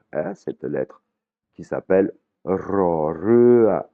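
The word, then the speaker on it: ร: Rémi, ça n'existe pas, ce son n'existe pas, c'est un R roulé, comme le prononcent les Espagnols. Hein. Mais si vous n'arrivez pas à rouler le R, beaucoup de Thaïs le prononcent comme un L.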